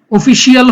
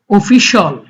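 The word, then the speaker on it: official: অফিশিয়াল, অফিসিয়াল হবে না, উচ্চারণটা হবে অফিশিয়াল।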